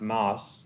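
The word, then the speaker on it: Maus: And it's pronounced mouse. It's m- au, so mouse safety Bahamas.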